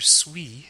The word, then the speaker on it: suis: This is the French liaison at work, because the very next sound after suis is a vowel sound, américain. We pronounce the S as a Z sound.